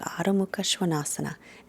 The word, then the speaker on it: Adho Mukha Svanasana: Adho Mukha Svanasana is how it's pronounced in Sanskrit.